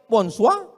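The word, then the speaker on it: bonsoir: Bacanya bonjou, bon soir, bonsa.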